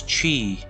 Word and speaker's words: qi: from aikido right or in chinese it's chi or spell it with q-i ki from qigong or